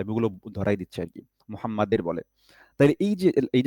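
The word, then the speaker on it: محمد: এখানে একটা ভুল করে অনেকে, সেটা হচ্ছে মুহাম্মাদের বলে। মুহাম্মাদের। হুম? যে পয়েন্টগুলো ভুল হয় আমি ওগুলো ধরাই দিচ্ছি আরকি। মুহাম্মাদের বলে।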